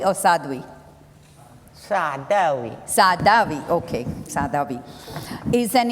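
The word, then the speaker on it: Saadawi: Sa Sadhavi, did I pronounce it correctly or Sadhui? Sadavi.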